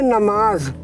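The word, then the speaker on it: नमाज़: उर्दू में इबादत, और इंग्लिश में प्रेयर, और फारसी में नमाज, जेड का उच्चारण होगा।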